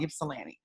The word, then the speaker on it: Ypsilanti: team in michigan and i can never pronounce the city right ypsilanti ypsilanti that's what it's called ypsilanti um it's a city